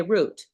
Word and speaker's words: route: not wrong to say root I mean it's like wrong to mispronounce it's not a mispronunciation I'm just letting you know if you hear somebody say root it's not a mispronunciation it's regional if you say route